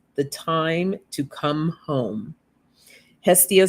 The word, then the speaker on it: Hestia: Let me make sure I'm going to pronounce her name correctly. Hestia.